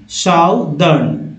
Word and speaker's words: southern: साउदर्न में आर नहीं है उच्चारण, ब्रिटिश एक्सेंट में आर का उच्चारण ये नहीं किया जा रहा है, जबकि अमेरिकन एक्सेंट में इसका उच्चारण किया जाता है।